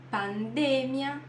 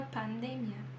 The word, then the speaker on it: pandemia: ter pensado isso né em português é pandemia Por que que em espanhol é pandêmia justamente por essa regra tá todas as que são terminadas em ia e não são acentuadas vão ter a sílaba tônica antes do ia tá uma vez mais